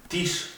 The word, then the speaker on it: Tisch: Tisch significa mesa. La SSH se pronuncia como la SH inglesa o como la L en Argentina, como caballo, como yo, la griega en Argentina también. Tisch.